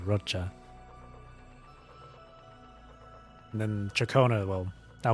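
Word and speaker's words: Roccia: I think her name is Rocha, not Rochia. I'm I'm pretty sure the proper pronunciation is Rocha.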